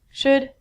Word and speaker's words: should: pronunciation on ink vidcom all of these l's are silent so it sounds like should good and the thing